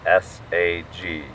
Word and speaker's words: saguaro: were some super old so how do you say the cactus swarovski saguaro which is took me forever to get that it's very difficult to say i mean i don't know look at how it's spelled s-a-g-u-a-r-o how do you say it saguaro there you go um anywho there were